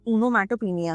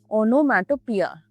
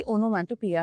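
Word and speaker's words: onomatopoeia: ये एक ओनोमैटोपिनिया है। ओनोमैटोपिनिया, पिया, ओनोमैटोपिया है। सॉरी पीनिया में गलत प्रोनाउंस कर दी, ओनोमैटोपिया है ये।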